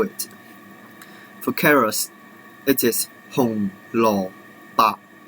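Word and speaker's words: 紅蘿蔔: So for these orange vegetables, it is 紅蘿蔔, 紅蘿蔔. But for the white one, it is pronounced as 蘿蔔, 蘿蔔.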